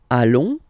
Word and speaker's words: allons: Then, nous, so we, plural form, nous allons, okay, and if you, so final S not pronounced, and then if you